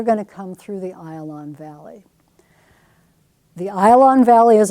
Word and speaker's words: Ayalon: It's pronounced Ayalon, even though most texts are going to say Ajalon. Ayalon Valley right here.